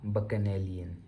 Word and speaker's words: bacchanalian: इसका प्रोनाउंसिएशन है बकनेलियन।